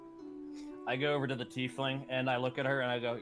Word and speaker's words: tiefling: I've always pronounced it Typhling. Tiefling. Yeah, but I've always pronounced it Typhling.